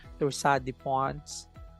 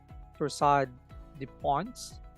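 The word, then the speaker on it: torsades de pointes: but this one is Torsade de Pons. It's a French term for heart problem. Torsade. If you're American, you can actually pronounce the S. Torsade de Pons.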